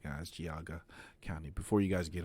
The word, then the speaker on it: Geauga: Kelly Kennedy 19 News giaga County that's how you pronounce it guys giaga County before you guys